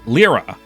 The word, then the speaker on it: Lyra: That is pronounced Lyra, just so we're all clear.